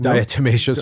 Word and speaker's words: diatomaceous: do you say the word deficits Earth desecrated diatomaceous earth what did you call it I like